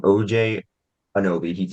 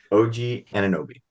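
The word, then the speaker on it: OG Anunoby: since January 1 oh did I pronounce his name wrong you say his name again OJ and Obi OJ it's OG o o an anobi OG an anobi OJ anobi I don't know why I knew it's not OJ I don't know why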